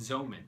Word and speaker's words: Xeomin: lines Botox disport and Zan spelled with an X so all three are